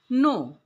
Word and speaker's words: know: तो यहाँ पे KNOW, इसमें के साइलेंट है, इसलिए हम लोग इसका उच्चारण करते हैं नो।